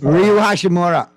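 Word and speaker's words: Rui Hachimura: You got a solid front line with Bryant, AD, and I can never pronounce my Japanese to it. I know. Yes. Ryu Hashimura.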